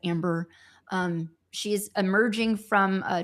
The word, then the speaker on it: Ambar: It's spelled Amber, like Ambar, but it's like Amber.